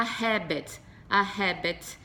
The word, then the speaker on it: habit: aqui eu tenho a habit, então o H, ele tem um som de consoante, o nosso som de R, né, como a gente pronuncia o R no português, a habit, ok?